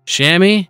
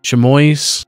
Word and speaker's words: chamois: Created Shammy variant base setup as a duplicate of the regular chamois, be pronounced different ways. Chamois, chamois, however you pronounce it. Chamois. We'll call it chamois from now on.